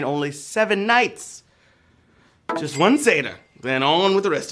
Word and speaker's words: seder: your booty oy bae indeed all right it's pronounced like as the half goat man from narnia right seder but it's an important part of passover and